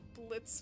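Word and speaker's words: Blitzø: they're spelled agree like people saying it's Blitz without the o what do you mean it's Pluto Blitz but Theo is silent though in that case that was more of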